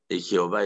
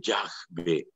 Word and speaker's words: Yahvé: Jehová es una mala pronunciación de Yahvé.